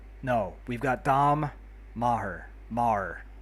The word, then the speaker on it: Maher: Mar, I believe that's pronounced.